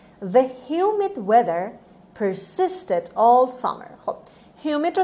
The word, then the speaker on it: persist: Word number 9: persist. خب هر دو تا اس رو با صدای سه داریم میخونیم همونطور که میبینید و استرس روی second syllable، روی بخش دوم هست.